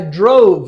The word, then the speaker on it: drove: that's a combination sound two letters one sound drove drove drove yeah all right yeah okay don't make it two syllables though don't say drove drove up don't say that just put the V sound on the end of one syllable drove here of course